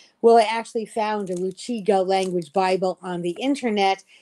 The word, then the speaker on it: Rukiga: tribal language it's pronounced Ruchiga. It's spelled Rukiga, but it happily be pronounced Ruchiga because of a rule in that language, a phonological rule.